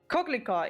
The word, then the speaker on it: coquelicot: coquelicot. Yeah, so yeah, it's that's how you would pronounce it.